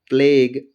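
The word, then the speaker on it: plague: जैसे प्लेग और टंग, क्या लिखा होगा? प्लेग और टंग। किसी भी शब्द के अंतिम अक्षर में जी यू ई हो तो यू प्राय क्या होता है? साइलेंट रहता है।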